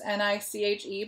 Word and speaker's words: niche: word that we come across is niche its ni CH Eve but it's pronounced niche and this is the role of